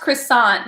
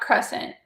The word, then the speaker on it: croissant: have my netflix anymore it's pronounced croissant not crescent yeah croissant am i